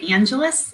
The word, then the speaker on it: Angeles: Well, actually, it's Filipino, so that's why a lot of people say Angelus, even though normally it would be Angeles.